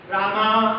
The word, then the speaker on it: राम: हम कृष्ण का आपने सुना होगा बच्चों कृष्णा रामा सुना है वास्तव में रामा शब्द है क्या कोई? क्या शब्द है? रामा। राम भी नहीं है। राम यदि शुद्ध भाषा में उसे बोलेंगे हम तो राम कहेंगे।